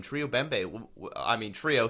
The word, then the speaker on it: Bembe: So that's another thing that's right, and it's pronounced good. Bembe.